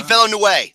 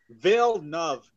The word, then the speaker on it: Villeneuve: Denis Villeneuve. There, I even got it right. Jerome? No. That's not how you say it. It's Villeneuve.